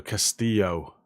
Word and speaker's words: Castillo: about the penrock channel ll is a y in spanish so castillo castillo there we go